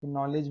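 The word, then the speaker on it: knowledge: Rule number 2, जब एन के पहले के आए तो के साइलेंट होता है।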